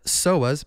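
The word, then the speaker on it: psoas: out your neck back the soas PSO like pterodactyl silent p uh are good for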